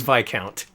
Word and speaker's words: viscount: Also, come to think of it, I'd like to apologize for mispronouncing viscount last time. It is Vic Count. I looked it up.